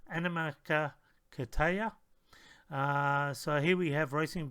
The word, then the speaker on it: Animakatayo: So this is the correct pronunciation, Animakatayo.